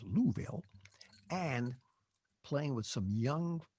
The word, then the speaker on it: Louisville: And next week, I'm going to read about what it was like going to Louisville, Kentucky, pronounced Louisville, and playing with some